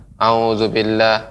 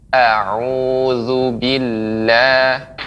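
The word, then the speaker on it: أعوذ بالله: Misal pengucapannya auzubillah, auzubillah. Padahal kalau kita memberikan haknya, maka kita akan mendengar dengan jelas. A'udzubillah.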